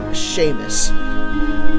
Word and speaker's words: Seamus: went down the canal I think Seamus is pronounced Sheamus it wouldn't be nice if they added the H you were the ones